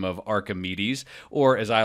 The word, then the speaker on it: Archimedes: they like worse yeah Archer met ease he didn't know what he didn't even know how to pronounce his name didn't know how to pronounce his name so so Archimedes I'll use the more common way of saying his name he talked